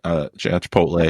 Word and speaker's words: Chipotle: We should never mispronounce Chipotle. Is that how you say it, Chip? That's pretty much it. Chipotle.